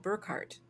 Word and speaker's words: Burkhardt: I have an ancestor called Burkhardt. I think when a German pronounces it, it sounds like there's a T there for the last D, but it's actually a D.